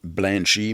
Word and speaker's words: Blanche: Encore, ça se prononce Blanchie, mais c'est Blanche, le nom.